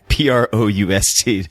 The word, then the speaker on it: Proust: I'm going to admit I had to look up Proust to double check and make sure that I would be pronouncing it somewhat close to correctly.